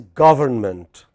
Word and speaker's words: government: The proper word is government. What is the proper word? Government. Government. What is it? Government. Stressed on the first syllable.